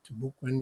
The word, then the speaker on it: Timucuan: Mukambo is also a term to utilize to identify that tribal group, and so there are various pronunciations, Timucuan or Timucuan, you also hear as well.